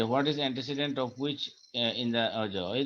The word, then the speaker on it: antecedent: এটাকে আবার আমরা রিলেটিভ প্রোনাউনও বলছি কারণ এটা কিন্তু একটা রিলেশনশিপ তৈরি করছে আগের নাউনের সাথে, which is called its antecedent.